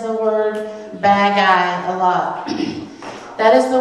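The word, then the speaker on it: bagay: thing is bad guy which kind of sounds like us saying bad guys yeah well he said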